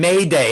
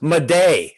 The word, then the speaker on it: Maday: it may day see the j morphed into what became anglicized and morphed into a y got it got it